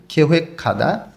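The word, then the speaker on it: 계획하다: প্রথম পিকচারে আছে ইউহ্যাঙ্গুল ভ্রমণ, খেহেক খাদা। গিউকটা হিউতের স্থানে গিয়ে ক্ষয়ের মতন উচ্চারণ হবে। খেহেক খাদা পরিকল্পনা করা।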